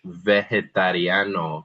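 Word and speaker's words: vegetariano: But then as we go down to vegetarian, that g is soft. Again, there's really no rule for knowing when the g sounds like a hard g like vegano versus this word which sounds more like an h.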